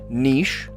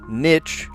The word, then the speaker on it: niche: Adjective that rhymes with sheesh or pitch, depending on who you ask. Oh, totally. Oh, I agree with that. Niche rhymes with sheesh, or niche.